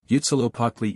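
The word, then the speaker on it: Huitzilopochtli: The names of the more important gods are pronounced as follows. Yutzilopotli equals Witzilopochtli, Tezcatlipoca equals Tezcatlipoca, Quetzalcoatl equals Quetzalcoatl, Zype equals Xipe, Calchihutlicute equals Chalchihuitliquai.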